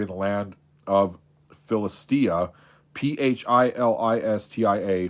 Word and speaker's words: Philistia: the land of philistia p h i l i s t i a philistia i think that's how it's pronounced all right the ark